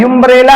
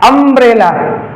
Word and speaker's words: umbrella: जैसे ही आ हुआ, जैसे इधर देखिए UMBRELLA, ये क्या है? युम्ब्रेला है? नहीं, ये क्या है? अम्ब्रेला।